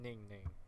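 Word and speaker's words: NingNing: I pronounced the I as an E. Gosh. I was saying Ning Ning. It's Ning Ning. And Ning Ning. Name. It sounds like I'm saying. It sounds like I'm pronouncing it as like Neyg.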